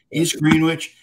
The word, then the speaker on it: East Greenwich: Am I saying it south? You are, yes. East Greenwich.